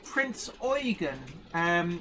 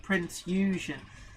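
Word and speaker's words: Prinz Eugen: KMS Prince Eugen, which is how it's pronounced. A lot of people think, my father kept calling it Prince Eugen, but actually Prince Eugen. I'm trying to remember my German pronunciation.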